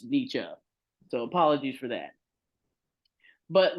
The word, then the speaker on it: Nietzsche: in the comic reading I pronounce his name Nietzsche even though it's Nietzsche so apologies for that